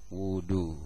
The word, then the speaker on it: وضوء: yang pertama adalah niat wudu nah dalam bahasa Arab itu menggunakan domah wau wudu dibaca patah tapi baca dah wudu kalau Wadu maknanya berbeda Wadu itu air wudu